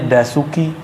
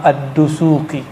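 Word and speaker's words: الدسوقي: Orang kita nyebutnya Dasuki. Itu mah orang Padang itu mah. Udasuki. Yang benar bacanya apa? Imam Ad-Dusuki. Imam Ad-Dusuki.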